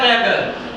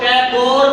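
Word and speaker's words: Tagore: Rabindranath टैगर। इसको टैगोर बोलो या टैगर बोलो। प्रोनाउंसिएशन आप पे डिपेंड करती है। ठीक है? कई सारे लोग इसको टैगोर बोलते हैं।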